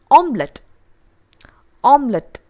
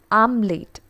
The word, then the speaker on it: omelette: has been pronounced as the correct form is omelet omelette but some of us pronounce this as am late i'm late that is wrong it's omelet omelette the next one a